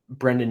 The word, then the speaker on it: Brayden: First of all, how dare you mispronounce Brayden Yager's name? Shame on you, Pat. Oh, Just Brayden. It's not Brendan, absolutely it's shame Brayden.